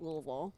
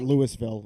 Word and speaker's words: Louisville: Like it doesn't seem like intuitive that it's pronounced Louisville. Oh no. I would have thought Lewisville and I would get crucified.